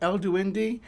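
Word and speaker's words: El Duende: So, we got El Dwey uh Duindi, I think is how you say that. El Duindi, uh which is a uh Central and South American uh sort of sprite figure.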